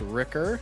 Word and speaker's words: Rickar: Rickar, otherwise pronounced Ricker.